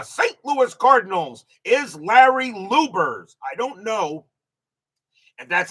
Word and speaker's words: Luebbers: Louis Cardinals is Larry Lubers.